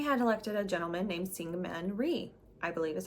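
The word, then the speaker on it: Syngman Rhee: results and they had elected a gentleman named Singman Ree I believe is how you pronounce his name and he ordered guess what more police officers to the island.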